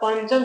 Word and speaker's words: पंचम: पंचम, देखिए बोलिए कैसे? पंचम, ठीक है? ये नहीं करेगा पम, पम नहीं होता, पंच नहीं होता, पन भी नहीं होता, क्या होता है? पंचम, ऐसे उच्चारण करके देखिए।